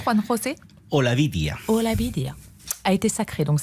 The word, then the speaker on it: Olavidia: Lola Bidia. C'est comme ça qu'on prononce, Juan José? Olavidia.